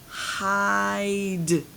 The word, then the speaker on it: hide: Now I add that silent E at the end, changes this to an I. What is the word now? It's the word hide.